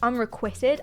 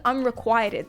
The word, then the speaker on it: unrequited: it's unrequited especially unrequited did you know it's pronounced unrequitted I didn't know that I thought it was unrequited this entire time unrequitted crazy C put a